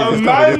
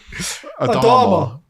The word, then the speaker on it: Adama: Amanda Traore. What's What's his name? Adama.